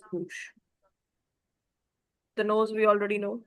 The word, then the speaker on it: bouche: O U gives you the U sound, C H gives you the sh sound, so it becomes bouche.